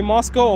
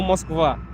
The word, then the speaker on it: Moscow: By the way, guys, please stop calling Moscow Moscow. It is way off. Don't say Moscow. You don't pronounce it like a cow. It's it's it's just say Moscow or Mosva, please.